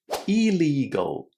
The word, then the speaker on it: illegal: And it's the same for illegal. legal. Illegal.